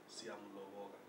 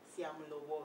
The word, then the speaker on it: Siamuloboka: How was I supposed to pronounce it? It's Siamuloboka. Siamuloboka.